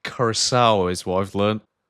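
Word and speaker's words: Curaçao: It is pronounced Curacao is what I've learned.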